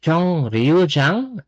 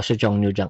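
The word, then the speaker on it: 청장: soong Okay chong Jang this one guys chong R Jang is not the right pronunciation It's chong Jang Okay chong Chang nagiging nagiging nian yung pronunciation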